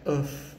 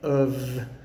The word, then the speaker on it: of: it's a v sound we don't say uf if we say of of so the word of o f is spelled with f but it has a v sound so sometimes f makes